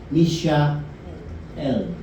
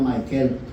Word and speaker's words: Mishael: Y Misha L. Yan ang pronunciation niyan eh. Kasi tayo nasanay tayo na kapag nakita mo yung Michael, pino-pronounce mo siya na Michael.